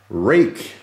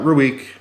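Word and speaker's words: Rike: I actually contacted the company to make sure, and it is 100% pronounced Rake. Like Drake, like make, take, cake, Rake. Not Ruik, not Ruik, Ruik, whatever. It's Rake.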